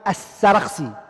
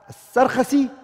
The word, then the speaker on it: As-Sarkhasi: Al-Imam As-Sarkhasi, if you want, you can say it like that. Or you can say Al-Imam As-Sarkhasi. As-Sarkhasi or As-Sarkhasi.